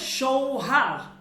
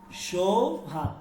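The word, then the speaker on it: شوهر: এরপর হচ্ছে সৌহার, সৌহার, সৌহার, দেখেন সৌহার, সৌহার। উচ্চারণটা কিন্তু এইভাবে, সৌহার, সুহার না কিন্তু।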